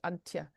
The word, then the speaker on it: Antje: in my little name, this is how it's pronounced in sort of English, Antje. It's a um a Dutch name, means Annie in Dutch, but I'm German.